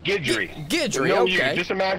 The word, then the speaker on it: Guidry: the front row Oh Michael Guidry Guidry there's no you there Michael Guidry all right